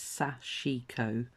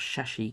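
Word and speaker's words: sashiko: I've been pronouncing that mispronouncing the word it's sachiko not sure she cuz I was saying it so it's Sachiko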